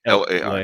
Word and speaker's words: Lai: L Um, Lay is how you pronounce Lay it. Lay L-A-I.